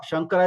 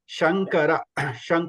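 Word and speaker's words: शङ्कर: So there is a difference between, please note the difference between in Shankara. Shankara is first Sha, normal Sha, that okay, and Santushtaha or Vishnu, that Sha is different. Okay, Santushtaha. So Sha, you should have that. You can feel the difference. You should listen, hear the difference clearly.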